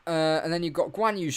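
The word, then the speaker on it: Zhou Guanyu: and then you've got guanyu or joe gwen you as the graphic says which really annoys me even though that's technically how you say it um 3.2 seconds off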